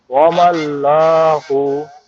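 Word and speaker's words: وما الله: লামটা simple উচ্চারণ হবে।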